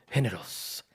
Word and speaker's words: géneros: Géneros. I said Estilo, it right. estilo. Estilos, que Giancarlo, he was pointing it out, or Tiki Tone. Generos in Spanish Generos. English is generous.